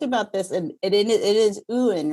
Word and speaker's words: Uyen: So technically it's Uyen, but a lot of Vietnamese say Nguyen because you have to, kind of twist your mouth that extra step.